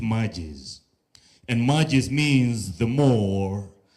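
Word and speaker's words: magis: of Loyola left us we pronounce it matches and matches means the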